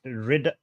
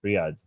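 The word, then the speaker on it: Riyadh: Ria you mean um I think it's pronounced Riad Riad oh excuse me okay no no worries no worries because in Persian call it riy in Arabic we riy I think in English it's Riad Riad Riyad yes okay yeah yeah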